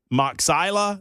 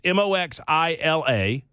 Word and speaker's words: Moxila: All right, it's Magistrate Judge Maxilla. That's Moxila.